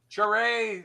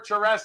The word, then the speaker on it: Charest: This is 13 by 19 by the great Travis Charay or Charest, however you want to pronounce it, but people say both.